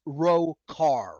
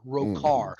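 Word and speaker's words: Rhochar: I spelled it R H O C H A R pronounced Roar. Roar.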